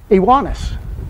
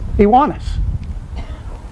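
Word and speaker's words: Ioannes: This word is spelled, I-O-A-N-N-E-S. And it's Iwanis. Iwanis.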